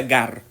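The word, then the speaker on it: γάρ: ese conector hemos visto con mucha frecuencia se pronuncia Gar ese quiere decir que Pablo está apoyando es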